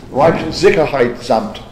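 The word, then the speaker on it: Reichssicherheitshauptamt: Reichssicherheitsamt.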